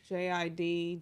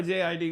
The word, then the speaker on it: JID: Is it Jid or JID? What is? How do I you call pronounce him my nigga? JID. I'm calling my nigga Jid. It's Jid, right? No, it's JID.